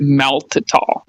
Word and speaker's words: maltitol: It's pronounced maltitol.